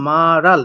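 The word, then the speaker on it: 말할: হবে কি মাল হাল তো এটার উচ্চারণ আরো চেঞ্জ হয়ে মারাল উল্টা হচ্ছে গিয়ে ইহুতের কাছে বসে উচ্চারণটা হবে মারাল যার অর্থ হবে কথা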